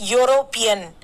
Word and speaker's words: European: a european you pronounce it it should be pronounced as european european so you your sound is there and